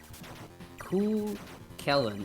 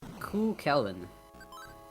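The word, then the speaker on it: Cú Chulainn: Ku Kellen is how you pronounce Q. Chu Lane.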